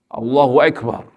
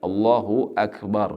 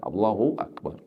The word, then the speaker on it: Allahu Akbar: pakai wa dan juga jangan sok jadi kayak orang Turki Allahu Akbar Allahu Akbar biar kelihatan agak sedikit interlokal gitu kan. Padahal yang benar orang Arab bacanya Allahu Akbar biasa seperti orang kita mengucapkan a Hamzah Allahu Akbar.